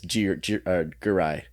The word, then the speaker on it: Giray: Is it spelled Giray? That's how you'd spell it phonetically, or Giray, but it's Giray.